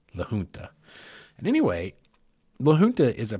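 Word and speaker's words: La Junta: to Lun Colorado now Luna is spelled l a j u n ta a that is that proper Spanish pronunciation it's not legun it's Lun and anyway Lun is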